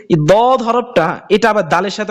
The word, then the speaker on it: ض: সবচেয়ে কঠিন হরফ হচ্ছে দদ। এই হরফ নিয়ে অনেক জায়গায় মারামারি পর্যন্ত হয়, কারণ এই হরফটা অনেকটা উচ্চারণের ক্ষেত্রে দালের গ্রান পাওয়া যায়, দালের মতো হয়।